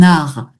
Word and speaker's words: art: Alors, sans prononcer le T final, un art.